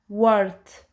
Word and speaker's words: worth: Always remember, whenever OR come just after W, we will say R.